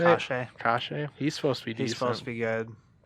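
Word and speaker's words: Kase: Kashe.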